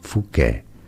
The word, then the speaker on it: Fouquet: As a surname, this is usually said as Fouquet.